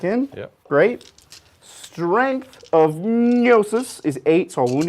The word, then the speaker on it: gnosis: cool weapon named gnosis you think it's like neosis oh is it like with a GN it is oh I love words like that I have no idea how to say them but like gnome like like gnome we're going to be